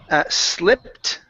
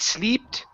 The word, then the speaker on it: slipped: All right, let's go to the word slipped. Okay, and it. So we're working on short I's. Instead of eat sleeped, it's it slipped.